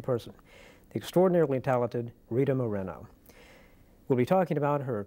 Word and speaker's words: Moreno: pronounced properly that's terrific you mean it's it's mispronounced marino marino well I suppose it's natural but it's very nice to hear Moreno uttered now and then I've got to ask